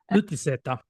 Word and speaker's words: utiseta: First of all, That was can you please pronounce the word? utiseta.